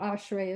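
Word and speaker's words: אשרי: bigger or bolder and so that's the second sound in that first syllable so ashray is pronounced ash ray okay so if we're saying this it's Correct.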